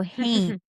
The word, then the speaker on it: haint: So Haints and the architecture of the dead. So I know we mentioned them a little bit before, but a haint is taken from the Appalachian pronunciation of haunt.